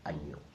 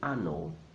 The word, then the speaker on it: año: Well, you must say año. If you say ano, you will be saying something else, because ano means anus.